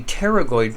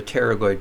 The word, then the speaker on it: pterygoid: picture those are the pterygoid processes you might notice the root word teri you know don't pronounce the P usually PT ery Terry in